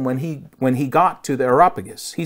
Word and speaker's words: Areopagus: I knew I was going to mispronounce that name. It was the Areopagus.